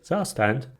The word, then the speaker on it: Zustand: By the way, I know its pronunciation is different. It's a German word, but I'm gonna say Zustand.